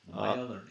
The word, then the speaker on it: MaiaLearning: Welcome, Phil Roybal, the Vice President of Marketing of MaiaLearning. I think I mispronounced that. MaiaLearning, yeah.